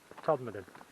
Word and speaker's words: Todmorden: i had to ask how you actually pronounce todd madden that's what he said todd made the lancashire in me